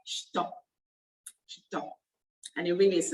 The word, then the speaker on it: shito: It's spelled S-H-I-T-O, but it's pronounced Shito.